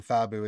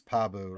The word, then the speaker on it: Pabu: I of kept she saying Fabu. It's Pabu, right?